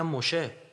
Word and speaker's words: موشه: خب اسم این پیامبر باید بریم ببینیم مردمش چی تلفظ میکنن دیگه. درسته؟ مردم اونا میگن موشه. تمام یهود تورات همه میگن موشه.